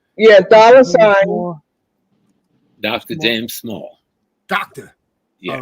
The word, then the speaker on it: Small: doctor uhhuh and then James J M S small s m a l l that's two s's